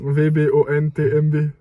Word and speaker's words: VBONTMB: Bah, c'est un acronyme, donc tu prononces les lettres. VBONTMB.